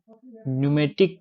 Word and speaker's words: pneumatic: is the is the pneumatic tire the p is silent in this one ntic tire the majority